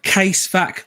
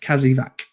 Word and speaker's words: Casevac: It's not a case vac, lads. Listen to too many poorly narrated military books. It's a Casevac, pronounced Kazivac.